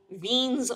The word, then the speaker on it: Wien: And this gives us something called Wien's law. W-I-E-N is pronounced Wien, it's German.